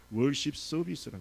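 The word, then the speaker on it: worship service: 그래서 우리가 영어로 예배를 뭐라고 그러니까 월십 서비스라고 해요. 월십 서비스. 한번 발음을, 우리가 국제적이니까 이제 발음을 좀 해볼까요? 월십 서비스. 그 R 발음이 중요합니다.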